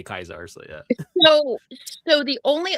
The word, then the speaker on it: Caesar: In the game, everybody outside of that faction calls him Caesar. Mhm. Well, And only within true to Kaiser, only within like the faction do they say Kaiser.